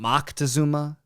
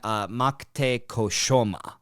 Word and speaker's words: Montezuma: There are so many variations of how people say his name. They go from Moctezuma to Matacuzoma or Matukzoma. And there's a few other variations. But the most scholars use the variation Moctecoshoma. Moctezuma.